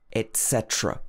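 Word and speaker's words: et cetera: Strictly speaking, this should be etc. or etc. Et at the beginning. Or you can make it into a glottal stop, like etc. But normally it shouldn't be etc.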